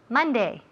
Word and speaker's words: Monday: Ok, so, todas esas palabras tienen el mismo sonido. M-O, pero se escribe M-O, pero se oye como si fuera una M-A. Month, money, Monday. Nunca month, money, Monday. No, eso es típico de Spanish.